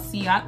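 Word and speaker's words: Ciaté: say it wrong every time but it's called sea otter London and from my black women it's translucent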